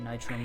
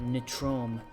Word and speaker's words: Nitrome: to watch him play Nightrain games and he always mispronounce the name he called it NIT room and it always kind